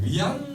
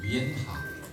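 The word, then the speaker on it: 元: 쓰여져 있습니다 그래서 이제 우리 한국 사람들이 주로 이제 어 위안 하라고 이렇게 얘기하는데 위안 정식 발음은 위입니다 위엔화 위엔화 그래서 위엔화 종류는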